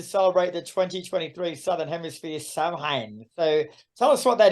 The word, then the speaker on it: Samhain: She's Irish, so Samhain, so I worked out for a start, Samhain is pronounced Samhain.